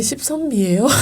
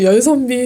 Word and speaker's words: 열선비: 선비라는 또 막걸리가 있어요 발음하실 때 이게 13b예요 이러면서 또 열선비 13b 막 이런 식으로 하니까 또 많이 그거를 못 낸다고 하더라고요 그렇겠네 그럼 막걸리들이 있고